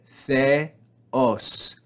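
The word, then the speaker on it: θεός: So we will not read it as theos. That's not right. We're not going to rise on the first syllable. We're going to read the first syllable with our normal voice and then fall on the second syllable to a flat or lower pitch.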